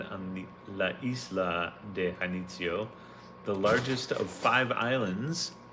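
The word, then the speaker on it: Janitzio: Hanitio or Janitio. I don't think you pronounce the J. So, Hanitio, located on the La Isla de Hanitio, the largest of five islands.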